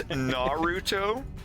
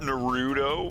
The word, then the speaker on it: Naruto: It's Naruto, not Naruto.